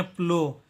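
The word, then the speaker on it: plough: और ओ यू जी एच का उच्चारण होता है इसमें ओ, ठीक है। ओ यू जी एच का उच्चारण होता है ओ, इसको पढ़ेंगे प्लो, इसका उच्चारण करेंगे प्लो।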